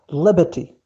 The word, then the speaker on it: liberty: Notice here, R here, it is not pronounced. The shava, it is silent. Liberty.